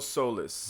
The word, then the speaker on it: Soliz: É isso aqui, é assim que pronuncia mesmo? Isso, Solis.